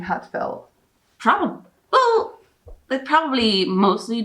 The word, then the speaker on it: Ha:tfelt: start this yeah so heartfelt it's pronounced as a british person would say heartfelt so it's heartfelt heartfelt yeah okay though i've